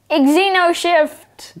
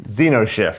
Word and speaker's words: Xenoshyft: Xenoshyft. Xenoshyft. Oh. The X is silent, even though it's there.